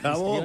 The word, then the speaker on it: jabón: Jabón.